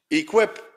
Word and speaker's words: EACWP: from the Berlin University, will no longer be pronounced as EACWP. But, Nadia, can you please stand up and say, what are we going to be? Equip.